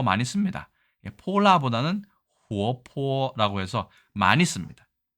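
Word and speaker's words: 泼剌: 이따가 설명을 드리기도 하고요 발음은 우리 발날보단 훨씬 더 파닥파닥 거리는 느낌이 강합니다 해볼까요 폴라라고 합니다 폴라 발랄이라고 합니다 이것만 있느냐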